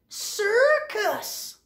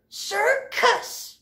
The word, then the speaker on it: circus: Again, what do you notice? There's two soft C's. Read it again, Alfie. Oh, there's a soft C, then a hard C. And what's the word? Circus. Right. Okay. Now, why is this C soft? Because it's C-I. And this C says k because?